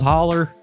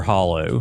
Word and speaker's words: hollow: The Haunting of Scholes Holler. You say Holler or Hollow? Which are you? It's It's hollow. But uh you know in West Virginia, of course, we pronounce it holler.